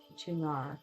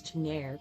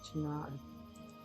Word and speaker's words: Tunare: What's interesting is that these seem to pronounce it Tunare consistently. I always read it as Tunare because of the E at the end, but consistently the voiceovers pronounce it Tunare.